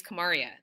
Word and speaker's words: Kamaria: enough to be like no lady my name is Kamaria this is how it's pronounced right and like in